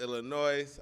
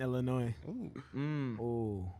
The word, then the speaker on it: Illinois: from chicago out west illinois uh roaches wow someone who looks like a roach um oh look at they started oh we're only people from our west pronounce the s in illinois nope that educator is